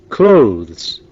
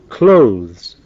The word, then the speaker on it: clothes: ولكن عندما تنطق فإننا لا ننطقها كما تهجأ. استمعوا إلى طريقة نطقها ورددوا وراء تشارلز. clothes، clothes. وكلمة clothes تطلق على أصناف الملابس بصفة عامة، سواء كانت ملابس نسائية أو ملابس للرجال.